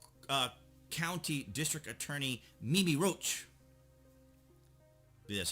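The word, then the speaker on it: Rocah: establishment said westchester uh county district attorney mimi roach that's how it's pronounced rogue who previously served as federal prosecutor at the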